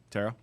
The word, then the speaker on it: tarot: tarot card Tarot Card Tara tarot tarot do you don't pronounce that T at the end I don't think so